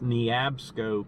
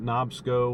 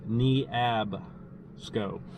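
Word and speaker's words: Neabsco: the pronunciation of that Creek it's knee APSCo creek not nob schoo or newb schoo its knee AB scope so it's knee APSCo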